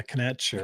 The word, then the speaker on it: Knecht: But I am picking the same pick that ESPN has us picking at 10, which is Dalton Knecht. I think is how you say that. Yeah, Knecht.